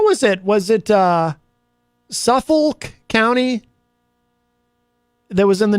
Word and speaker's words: Suffolk: it was it uh Suffolk County that was in the news and I I uh people people pronounce it a slightly different way but I insist on putting the L in there just so I don't